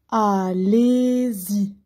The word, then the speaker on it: Allez-y: Le Y se prononce comme I. Allez-y.